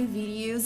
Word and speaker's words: video: the word video video It's pronounced video make that long o sound like No And Go video The Sound starts here and moves forward video and ends right here video video not video